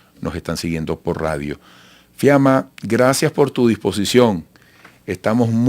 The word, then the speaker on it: Fiamma: Bueno, para conversar sobre este tema, tenemos vía Zoom desde Buenos Aires, capital argentina, a Fiamma. Se escribe el apellido y latina, y su nombre Fiamma con doble M, es analista internacional argentina.